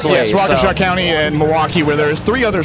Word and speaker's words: Milwaukee: So well and also so eventually they're in you want to try and pronounce this my friend Palaki. I believe they're in Pawaki Wisconsin. Yes Milwaukee.